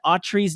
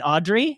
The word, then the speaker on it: Autry: He said a couple things about how I mispronounced Gene Autry's name multiple times. So my bad. I called him Gene Audrey, and I have no excuse for it.